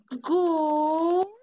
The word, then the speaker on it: good: Good night. Good night. Chicos, les cuento un secreto. En inglés, cuando vemos dos vocales O juntitas, se pronuncia como la vocal U. Eso es que dice good night.